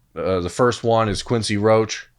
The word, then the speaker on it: Roche: a lot about the first one is Quincy Roche Roche I don't know how to pronounce his name is he French Oh Roche okay the the temple defensive end grad transfer